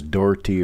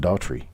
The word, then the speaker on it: Daughtrey: d-a-u-g-h-t-r-e-y and it's pronounced daltry it's very simple i always tell people there's a tree at the end of my name helps them remember it